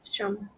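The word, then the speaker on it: שָׁם: under the shin of kamat. How would you read that? Um, sham sham. Sham. Sham. Let that air flow.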